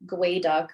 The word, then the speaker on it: geoduck: So gooey duck is actually gway duck, which is the native tongue for what the species is.